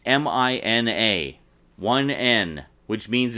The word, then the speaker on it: Mina: pronounced Mina now the name is Mina it's mi na 1n which means it's pronounced Mina but all but one character pronounced it Mina